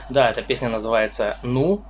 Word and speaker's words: nous: By the way, in one of the most difficult languages - French This song is called "Nous" (again, 4 letters are written, but 2 are pronounced) This translates to “We”